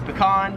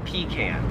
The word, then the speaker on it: pecan: Me and most Americans would pronounce this as pecan. However, in Australia, most people pronounce this as pecan.